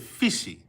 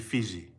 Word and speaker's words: Fiji: with a J, because there is no J in the Tongan language. They would have said fishy. Fishy. But he spelled it with a J, meaning it had a J-sounding pronunciation. Alhi Fiji.